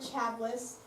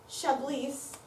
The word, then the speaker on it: Chablis: Okay, yeah, this was Lauren's character, Chablis. Chablis. Yeah, in the Chablis? movie it's Yes. Chablis. Pronounce Chablis. Oh, I've been pronouncing it wrong. It's French. Like the wine, Chablis. I wouldn't know that.